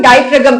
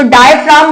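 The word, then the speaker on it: diaphragm: तो डायफ्राम बोला जाता है, वरना इसका नाम बोला जाता है इसको डायफ्राम, लेकिन हम क्या बोलेंगे? डायफ्रागम।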